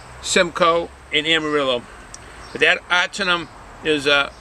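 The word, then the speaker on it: Ahtanum: Now this Ahternum, I know when you see the word, it's spelled A-H-T-A-N-U-M. It's Ahternum. That is a low alpha.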